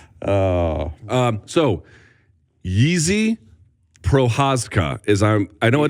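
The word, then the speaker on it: Jiří Procházka: I'm I'm told I am told it is pronounced easy projas this is the ever morphing first name it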